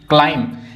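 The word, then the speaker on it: climb: क्लाइंब क्लाइम में हम सिर्फ क्लाइंब पढ़ते हैं। मं तक पढ़ते हैं लेकिन बी यहां पे भी साइलेंट है।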